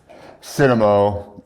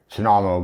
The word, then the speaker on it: Cennamo: So I'm Cennamo, and I believe my name is actually supposed to be pronounced Cennamo, but everyone knows me as Cennamo, so we'll just keep it at Cennamo.